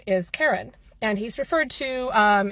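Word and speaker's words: Charon: on the internet Karen now Karen spelled like the name is the name of a people but k h a r o n refers to the god of the Dead specifically the fairy man so the fairy man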